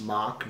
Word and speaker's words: SMOK: It is pronounced SMOK, not smoke.